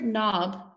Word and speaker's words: knob: The word knob begins with the silent letter K.